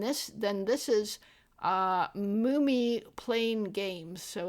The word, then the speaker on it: Mumi: And this then this is uh Mumi playing games. So it's it's spelled m u m i like a mummy but uh mum playing